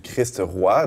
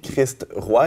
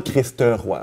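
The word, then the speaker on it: Christ-Roi: En attendant le moment de la fête du Christ roi dans quelques semaines, remarquez, j'ai prononcé Christ roi et non Christ roi, comme l'école cardinale roi ou Patrick roi. On dit pas Christ roi, c'est Christ roi.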